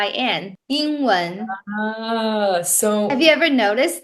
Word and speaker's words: 英文: okay, people from Taiwan, we don't actually have the ing ing sound very clearly. If you listen to me enough and listen to your boyfriend who's from China, you know that we pronounce the ing ing sound very different.